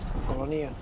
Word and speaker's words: Colonia: need to be here Colonia that's how they would pronounce it in Spanish Colonia what the hell is